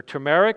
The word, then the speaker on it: turmeric: Curcumin, which is the active ingredient in turmeric, or turmeric as some people pronounce it.